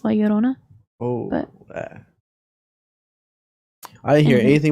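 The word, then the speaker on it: Llorona: Oh, but I mean like if you pronounce it how you're actually supposed to. It's Leorona.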